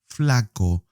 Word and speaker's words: flaco: Flaco. Please make sure that the O is pronounced like an O. Do not pronounce it as an O. That sound doesn't exist in Spanish.